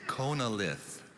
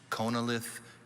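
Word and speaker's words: chonolith: you hi tessa hi your word is konalith can i please have all the information konalith also pronounced connilith is a noun this word was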